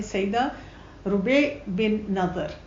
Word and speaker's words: Rubai’: उनका नाम है सईदा रुबे बिन नज़र। जैसे राबिया होता है, वर्ड उसी तरह से है, लेकिन इसकी प्रोनाउंसिएशन थोड़ी सी डिफरेंट होती है।